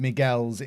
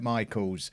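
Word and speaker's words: Michiels: That it is pronounced Miguels, even though it looks like Michaels, which is why I'm saying Miguels. There was a few people in the comments yesterday saying, Kev, why are you saying Miguels? That's why, because I was told to by people who know how to say his name.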